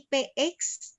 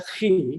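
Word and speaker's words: chi: dulu ya Eh itu itu bacanya bukan PX itu oh giih ngapunten ROM itu tulisannya meemang seperti X itu artinya khi bacanya khi bahasa Yunani khi dan ro itu R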